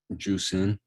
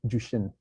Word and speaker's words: Jushin: Juicing. Wrong. How do you say it? It's Jushin. Okay. Okay, it's close, right?